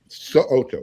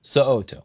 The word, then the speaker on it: So'oto: Make sure you pronounce that last name correctly, because he will correct you if you don't. So'oto, yes. So'oto, boom.